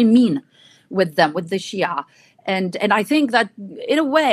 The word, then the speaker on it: Shia: And in the popular representations of a lot of Lebanese, being a Shia, as I said, like rhyme with being, backwardish, illiterate, kind of a savage.